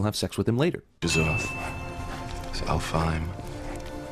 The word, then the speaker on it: Alfheim: Alfheim. Anaheim.